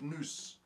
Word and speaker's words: nous: Now that word mind is the word nous. We would spell it something like N-O-U-S, mind.